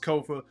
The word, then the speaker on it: Kofa: Once again, I am your humble host, Kofa, K-O-F-A, not coffee, not kufu, not Kofi, or any variation thereof. Kofa rhymes with sofa, easy to say, easy to spell.